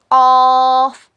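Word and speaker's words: ق: जबान की जड़ को छोटी जबान के पीछे के हिस्से में लगाने पर ऑफ अदा होता है। इट is pronounced when the back portion of the tongue which is near to the throw touch the soft पैेट।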